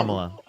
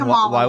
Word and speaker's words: Kamala: Kamala. And Kamala Walla.